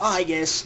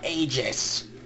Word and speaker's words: Aegis: It's pronounced Aegis, not Aegis.